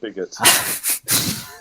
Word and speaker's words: Bigot: players other French team pronounced bigot bigo uh and then had